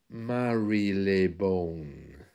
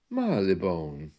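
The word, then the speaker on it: Marylebone: and say it slowly the word is actually Mar Leone so Marone is when the r is silenced out just like in shorter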